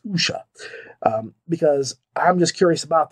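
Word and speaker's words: wuxia: the the waxia w-u-x-i-a i'm gonna look and see that it's pronounced usha that's how you pronounce that you know usha because when i didn't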